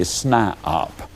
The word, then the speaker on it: SNIOP: toe, and they become what I call a SNIOP. Now that's spelled S-N-I-O-P.